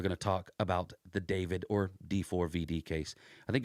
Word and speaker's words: D4VD: His name's David. It's spelled D4VD, which, I don't know, it sounds like devil for venereal disease, if you ask me, but whatever, that's his name.